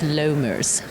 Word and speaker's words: Lommers: character Dr Sabine l i l but it's lers that's I was going to ask how to pronounce it because I didn't want to get